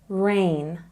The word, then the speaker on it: rain: before the end so the g is silent rain rain you might know another word which sounds the same when there's water falling from the sky rain and rain same sound so remember silent G